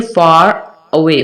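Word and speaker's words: far away: तो ऐसी सिचुएशन में रा को हम साइलेंट नहीं कर सकते। तो फिर हम क्या पढ़ेंगे? फॉर अवे।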